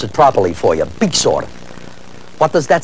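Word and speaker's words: byxor: I'm trying to pronounce it properly for you. Bixor.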